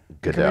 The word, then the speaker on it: Goodell: Goodell.